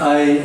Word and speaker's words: Ai: So laboratory work since 1977, so this is 39 years old long-running project. That is called AI project because of the female chimpanzee named Ai, spelled AI. Pronunciation is I, and the meaning is